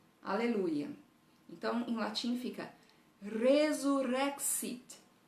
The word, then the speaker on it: resurrexit: Então, em latim fica resurrexit.